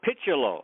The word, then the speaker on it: Picciolo: them but he was a good teammate Rob picciolo uh oh that's not now how do you say it Rob Piccolo okay yeah he's a young guy young guy